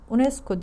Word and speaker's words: UNESCO: kenttir o nesco kısaltması Böyle yazılır UNESCO diye okunur getirilen ekte nun dur